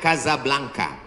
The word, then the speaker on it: Casablanca: kuliah nama negaranya Maroko ibukotanya tulisannya Casablanca cara bacanya Kasablanka Kaza artinya rumah blanka